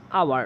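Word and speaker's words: hour: আওয়ার উচ্চারণ হয়েছে সেই কারণে তার আগে কি বসবে এন আওয়ার okay an আওয়ার হবে ঠিক আছে অপশন বি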